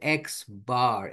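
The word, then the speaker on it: x̄: The letters used to represent the sample mean is an X with a bar over the top, pronounced as X bar, X with a horizontal line on top of it.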